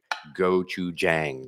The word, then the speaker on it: gochujang: Okay, so here By the way, we have some clarification on the pronunciation of gochujang. Gochujang, okay. Jang, as in J like Joe, Jang rhymes with Tang.